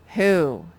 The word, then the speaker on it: who: he says nothing and i don't know why the o says ew but it does and we're just going to remember that who you will have to